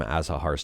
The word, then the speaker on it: Azahar: Well, this is right from Azahar's Twitter account, and they say it's pronounced Azahar. And let me know what you think about that one. That's why I call it Azahar.